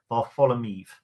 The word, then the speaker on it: Varfolomeev: I was told how to pronounce it. Ivan Varfolomeev.